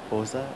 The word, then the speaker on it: Bose: yet full blown fascists Bose? Bose. Subhash Chandra Bose. It's B-O-S-E. The E is not pronounced. It's not Bose. It's Bose.